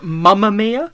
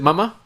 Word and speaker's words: Mamma Mia: Is it Mama? Yeah. Are you sure? Mamma Mia? Yeah, Mama. Mama? Yeah, it's not spelled M-U-M-M-A. It's not Mamma Mia.